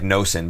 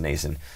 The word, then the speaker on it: Noesen: It looks like Noesen, but it's actually pronounced Noesen.